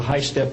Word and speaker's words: HYSTP: program, and also on the high-step program. That's spelled HYSTP, means Hypersonic Testbed Program.